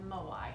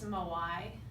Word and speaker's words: Moai: And I want to introduce another term to you called Moai. It's spelled M-O-A-I.